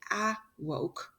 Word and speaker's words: awoke: If it was a short A, it would say awoke. It's not. It's the schwa sound, awoke.